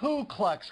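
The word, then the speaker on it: Klux: out there on clansmen it's kluck's Clan not clue kluck's Clan all right I did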